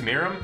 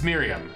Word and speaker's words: Miriam: go marinate I guess Mira would be it I'm saying her name wrong I know I am Mira Mira Here I am Miriam it's Miriam there we go Miriam whatever co-leaders later